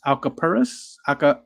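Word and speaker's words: alcapurrias: it I don't know oh it's Alka a-l-c-a-p-u-r-r-i-a-s Al caparis oh yes yes they are deep fried yeah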